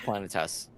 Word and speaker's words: Planetes: say this is it Planet Tess is it planets in it is it Planet s is it it's it's pronounced planetes okay so the only